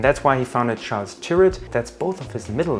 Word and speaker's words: Tyrwhitt: It is spelled Tyrwhitt, like spirit.